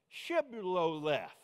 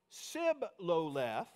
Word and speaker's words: Shibboleth: Shibboleth, that's easy for you to say. If they say without the H, Sibboleth, because the men of Ephraim could not pronounce the word correctly, they seized him, that